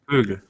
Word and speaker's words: Kögel: apologize for the pronunciation I don't know if kegle kle how is how is pronounced cabins it's kegle or coug isn't it kleg right it's just kougal kougal okay there you go